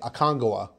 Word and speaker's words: Aconcagua: months ago, and I asked him how to pronounce it, and I think he said Aconcagua. And I kept, because I say Aconcagua, but it's saying it's Aconcagua, I think is what where the accent is.